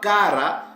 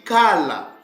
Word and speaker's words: kala: Donc, ces mots-là ne se lient pas kara, parce que vous voyez ici, ils étaient presque proches à la bonne prononciation, mais ils ont failli, parce que ce mot-là ne se lit pas kara, parce que le L a le son du L. Donc, ça se lit kala.